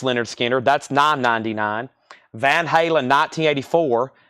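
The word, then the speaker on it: Lynyrd Skynyrd: nugget $9.99 he's going the distance Leonard skinnard pronounced Leonard Skinner that's $9.99 Van Halen 1984 Van Halen $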